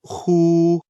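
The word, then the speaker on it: 呼: The pronunciation of hu. Like the who in the English word hoover, the pronunciation is assisted by the throat.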